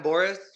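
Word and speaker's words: Borics: Um, I've been going with Adam Boris. Um, that's how you say his name from Bellator. I've been Boris, yep.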